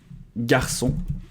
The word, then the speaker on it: garçon: how to call that a little tail underneath For example, ‘ça’ → ‘it’ By itself, normally C and A would sound or we have ‘garçon’ which means ‘boy’ So without the cédille, would be → You put the cédille in becomes /s/ sound If you enjoyed this